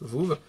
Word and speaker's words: VooV: Je ne dis pas n'importe quoi, ça s'écrit bien V-O-O-V, Voove. C'est tellement drôle à dire en français.